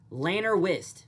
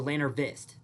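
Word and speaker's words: Llanrwst: Lanner Wist. Okay. Lanner Lanner Wist or Lanner Vist. Uh depending on the Welsh language.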